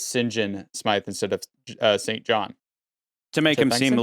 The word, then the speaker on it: St. John: John Smythe, the reason why it's pronounced St. John is because it kind of goes back to Norman French origin.